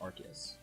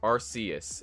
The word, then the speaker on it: Arceus: Arceus is pronounced different ways in anime, both Arceus and Arceus. I say Arceus because that's what I was told by a Japanese friend that I met.